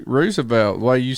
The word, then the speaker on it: Roosevelt: but really I mean it's spelled the same way you spell rooster Roosevelt rooster which is right which is right do you know I mean I think R Roosevelt the way you said